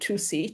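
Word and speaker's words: Tussy: Her parents named her from childhood 2C to rhyme with not fussy, because she really loved cats, but she was never fussy.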